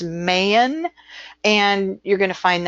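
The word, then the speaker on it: mane: Main, meaning morning, which is mayan.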